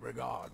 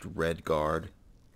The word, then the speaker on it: Redguard: his roast mutton with regard berry sauce is to die for but as chocolate pate gives me the bronze I think that would actually be pronounced Redguard so the gourmet is